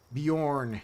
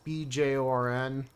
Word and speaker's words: Bjorn: guy for a while beorn yes BJ o RN that's I'm pretty sure it's supposed to be Nordic pronunciation which I think that's Nordic right Bjorn with a BJ being a bu uh probably that I